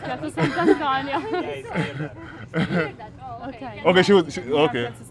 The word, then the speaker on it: Piazza Sant'Antonio: Anything Italian is Piazza Sant'Antonio, right? It's my first hour here. No. Okay, just check like Piazza Sant'Antonio.